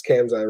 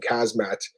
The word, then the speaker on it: Khamzat: He's like, first off, he said the guy's name wrong. It's Khamzat, right? And he called him Kazmat or something, and the guy's like, "I don't even know who that is."